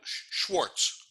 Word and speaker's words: Schwartz: to say that but Schwartz is the way the Jewish people pronounce it right and quartz is